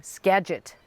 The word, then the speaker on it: Skagit: from the okay I get the chance to pronounce it right this time Skagit Tulip Festival thank you for correcting me on